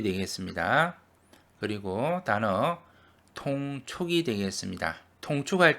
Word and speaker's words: 통촉: 통축할 때는 여기 동이 아니고 통으로 발음합니다. 통촉은 위사람이 아래 사람의 사정이나 형편을 살피는 것을 말합니다.